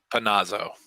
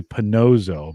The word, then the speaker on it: Panazzo: How do you say it again? Panazzo. Panazzo. Yeah, it's a good old Italian name. Yeah, Panazzo. I always want to say Panozzo, but I need to.